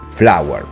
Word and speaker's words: FLVR: Si scrive FLVR, ma in realtà si legge Flower.